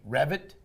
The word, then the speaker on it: Reffett: And with me today is Courtney Revit. Did I pronounce that right?